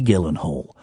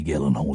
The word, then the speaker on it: Gyllenhaal: that woman is Maggie Gillen Hall hi chihuaha what a lady what a woman and I respect her so much that I'm I'm saying the hard G it's a hard G Gillen Hall Jake Gyllenhaal